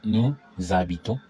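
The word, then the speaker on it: nous habitons: So here there's a liaison. There's a liaison and there's a liaison. So new z a bi ton. Vu z a bi te. Eat z a bi te.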